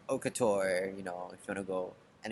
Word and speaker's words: haute couture: Pretty sure it's haute couture. Haute couture. Yeah. No, I think that's how everybody says it. Yeah, I've been saying it wrongly.